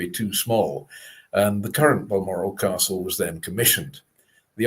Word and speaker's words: Balmoral: And Balmoral was, it was first recorded as Bushmoral in 1451, which is pronounced actually Buchral in the Gaelic-speaking terms.